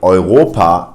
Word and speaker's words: Europa: If you see the combination of EU, then it's pronounced Oi in German. In words like Europa, which stands for Europe.